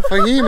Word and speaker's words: फहीम: अफीम नहीं है, मेरा नाम फहीम है। फहीम, इन्होंने थोड़ा प्रोनाउंस गलत किया इसकी चीज के लिए ना, मैं इनको माफ कर रहा हूँ, आप भी कीजिएगा प्लीज प्लीज।